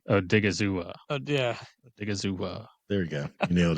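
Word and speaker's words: Odighizuwa: Yeah, we should all take a chance at pronouncing his name. Osa something. Osa like Odigizua. Yeah. Odigizua.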